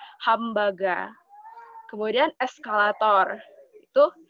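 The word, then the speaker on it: ハンバーガー: Di antaranya seperti hamburger yang diucapkan mirip dengan pengucapan bahasa Jepang seperti hambaga.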